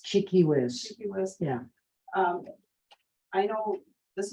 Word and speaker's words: Tchi-Kis-Wis: that digested yeah can you repeat how to pronounce her name cheeky whis cheeky whiz yeah um i know this has been done